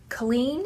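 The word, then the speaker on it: Kahlen: This book is about a girl named Colleen, is how I would say her name, but I've heard people say it other ways, but I always said Colleen.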